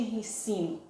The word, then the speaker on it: rícino: não pronuncia óleo de rícino porque na palavra de ensino certo tem um acento agudo no ri r mini certo então são pronuncie rícino que como eu cresci a